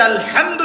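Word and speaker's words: الحمد: রাব্বিল এটা কি আলহামদুলিল্লাহ এই যে আলহামদু শব্দটা সঠিক করে উচ্চারণ করতে পারছেন অনেকে আলহামদু মানে সমস্ত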